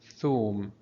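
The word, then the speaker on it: ثوم: Notice we have above Tha, we have here Dhamma, that's why we're having Thum. Again, the letter after Waw, after Tha, is called Waw. It will elongate the sound of Thum, of Tha.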